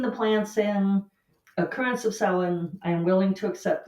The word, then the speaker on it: Samhain: I was reading that Samhain, spelled like Samhain, but Samhain, which occurs on November 1st, was considered to be the end of summer and beginning of winter.